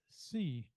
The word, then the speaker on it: Hsi: Her name is pronounced C. The H is silent, so I can probably